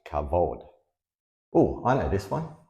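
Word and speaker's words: כבוד: that's spelled with the same letters and it's pronounced cavod oh I know this one Cod is Glory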